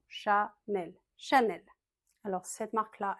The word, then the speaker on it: Chanel: Chat comme un chat. Nel, c'est pas Chanel. Non, Chanel c'est plat en français. Il y a pas d'accent. Chanel.